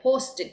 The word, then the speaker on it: posted: gonna be past tense the post Ed okay post it that's how you pronounce it okay and then other